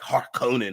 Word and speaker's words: Harkonnen: Emperor to the Harkonnen, as they pronounce it. I like Harkonnen. I think like the harsher H on the beginning is better.